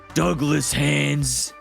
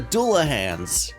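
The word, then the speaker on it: Dullahans: gang of headless guys I think it's pronounced Douglas hands wrong we are the Doula hands boom's a headless Knight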